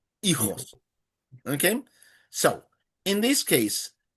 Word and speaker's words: hijos: have to remember that the H is silent and the J sounds like an H. Okay, hijos, hijos.